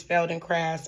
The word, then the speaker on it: Feldenkrais: But I now know that the proper way to pronounce it is fel and craft.